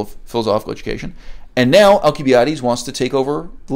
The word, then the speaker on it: Alcibiades: Now, the standard English pronunciation is Alcibiades. I'm going to choose to be slightly more Greek in my pronunciation. I know this is not remotely the way modern Greeks pronounce it, and I'm going to refer to him as Alcibiades.